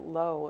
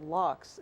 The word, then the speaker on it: Laux: I kept on pronouncing it Low, and I was at the writers, the festival in Iowa, Okay.